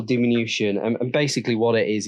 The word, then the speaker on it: diminution: that I speak to it's not demean you Asian it is vehicle diminution and basically what it